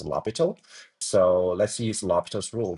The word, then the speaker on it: L'Hospital: Actually looks a little bit like the English hospital but actually the French mathematician's name. So we pronounce as lobital.